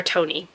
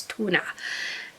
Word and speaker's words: Tone: the Norwegian table, and I asked them, how do you pronounce this name? And they said it's Tuna.